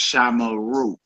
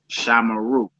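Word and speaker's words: שָׁמְרוּ: It's pronounced shamara, shamara, and it's pronounced shamaru, shamaru. Though the shiva occurs in the middle of a word, it is vocal.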